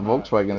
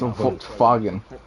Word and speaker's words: Volkswagen: It's not It's not Volkswagen. It's Volkswagen.